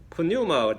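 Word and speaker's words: πνεῦμα: 헬라어로는 이제 우리가 푸뉴마 이제 보통 이제 앞에 P를 발음 안 하니까 뉴메릭, 영어에서는 P를 발음 안 합니다. 뉴메릭, 뉴, 그렇게 해요.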